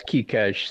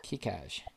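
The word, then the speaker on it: Keicaj: Okay, I have no idea how to pronounce this, but K-E-I-C-A-J. You're going to have to help me. Yeah, it's Kikaj. Thanks. Kikaj.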